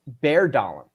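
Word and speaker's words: Bjørndalen: Okay, so I incorrectly pronounced Bjorndalen. That Bjorn is pronounced bear, apparently. So Ol Einar Bærdalen.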